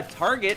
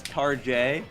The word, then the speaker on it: Target: I mean, the old joke is people used to pronounce it as Tar-J because it was a fancier Walmart.